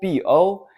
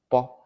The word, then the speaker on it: bo: To make the transition smoother, a shorter U sound is inserted before O. However, Pinyin still spells it simply as Bo for convenience. So when you see Bo, B-O, don't pronounce it as Bo, Bo.